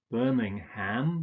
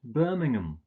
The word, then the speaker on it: Birmingham: But you don't pronounce this ham, you usually just pronounce it So it's not Birmingham, but Birmingham.